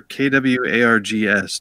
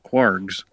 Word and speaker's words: kwargs: There was somebody named Nicole Carlson that started this question of, do you say for KWARGS, do you pronounce that keyword arguments or do you pronounce it kwargs?